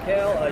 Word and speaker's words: Haile: I'm Hale. You can find me as Hailstorm42 on Instagram. It's spelt a little weird, like my last name. It's Haile.